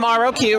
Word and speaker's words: Roq: Raquel oh okay but your roq I'm roq right and so this is rock that's what how you pronounce it and I'm currently